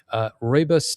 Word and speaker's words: Rooibos: And this point is brought to you by Rooibos tea, the official tea of South Africa.